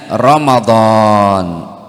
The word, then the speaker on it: Ramadan: mim Dod Alif Nun setelah Dod ada Alif panjang bacanya Ramadan apa Bu Ramadan di